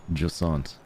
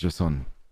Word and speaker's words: Jusant: So we're playing a game called Jusant. No, it's Jusant.